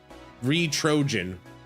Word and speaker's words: Retrojan: Its pronunciation is a Retro Trojan as in like a Trojan horse.